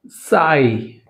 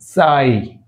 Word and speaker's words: sigh: Sigh, GH is silent. Sigh.